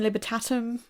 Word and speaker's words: Libertatum: a very nice thing the liberatum is that am I pronouncing that right would you say libertatum libertatum yeah I'm say libertatum okay tell us about